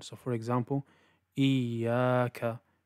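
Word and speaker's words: إِيَّاكَ: Rather, it should be a continuous, smooth sound. So for example, iyaka, iyaka. And cutting it sometimes sounds like this, iyaka, iyaka.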